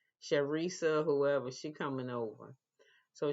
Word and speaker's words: Charresse: I can't say this lady name Charresse. Her name is pronounced with SH, but it's spelled CH. Charisse, whoever, she coming over.